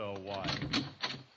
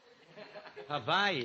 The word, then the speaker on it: Hawaii: Havaii. Hawaii. What's the difference? A lot of difference. One is pronounced vit and the other with a w.